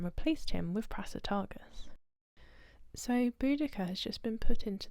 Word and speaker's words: Boudicca: her time in history it's tacitus's spelling of her name that causes the different pronunciations of Boudicca or bodhisia most academics agree that it's Boudicca as podocia was a misreading or a typo of a previous Latin text translation and possibly like